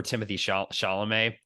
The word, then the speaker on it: Timothée Chalamet: It just maybe it'll just take me time to get over Timothy Chalamet as well. I don't even am I pronouncing his name correctly?